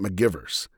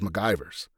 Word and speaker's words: McGivers: He actually mispronounces her name. He says, "Get me the ship's historian, Lieutenant McGivers." And Spock corrects him and says MacGyver's.